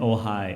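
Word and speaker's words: Ojai: of the weekend but we ended up in ohigh ohigh which is where John lives and uh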